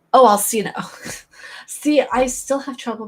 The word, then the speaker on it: Alcina: The name is pronounced Alcina. Oh, Alcina.